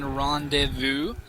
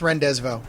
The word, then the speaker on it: rendezvous: going to be alien rendevu uh not so much it's pronounced renvo yeah rvo thank you not not